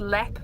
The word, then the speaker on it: Leap: We have a place called Leap, but it's spelled L-E-A-P. And if you ever want to piss off someone from Leap, you call it Leap.